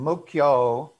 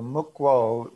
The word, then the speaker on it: Mukwo: By the way, people are pronouncing your name Mukyo. I know, right? Yeah, Mukyo. Kyo would be a different word than quo. So Mukwo, the U is like a W, Mukwo.